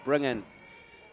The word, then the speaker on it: Bringen: I'd just like to thank Rachel Bringen, who just emailed me in around pronouncing of Max's name, number 14 for AUT, who made an excellent block on the line. Thank you for that, Rachel. Always appreciate the correction. So Max Bringen is the right way to say it.